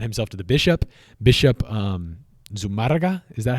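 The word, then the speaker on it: Zumárraga: Bishop Zumarraga, is that how you would pronounce that? Zumarraga.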